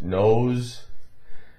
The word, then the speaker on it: nose: But S in those words, nose, noise, had more of a little bit of a Z tinge to it, right?